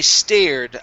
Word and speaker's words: stared: and last one here instead of i started i stared i stared into the